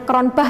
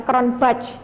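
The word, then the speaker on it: Cronbach: menggunakan keran Bah Alfa ini bacanya kronbah Ya bukan crown batch gitu ya keren banget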